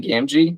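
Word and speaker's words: Gamgee: Sam Wise, how do you pronounce that last name? Gamji.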